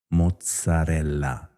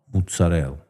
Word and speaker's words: mozzarella: Mozarella no mozzarella monkey say no.